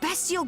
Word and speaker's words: bestial: There Bestial Briger here too. Bestiel? No, definitely beastial. What was that? I guess it would be pronounced bestial because there's not an A in the be, right?